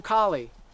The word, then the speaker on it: Carly: "Oh, I'm Kali." Kali? Kali. Kali, like the martial arts system. So, like in English. Kali. And I was like, "How do you spell it?" She was like, C-A-R-L-Y.